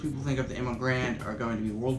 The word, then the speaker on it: Garand: So it's technically pronounced Garand. There's a A there before the R, so it's Garand. But most people just say Grand, and kind of leave that A silent.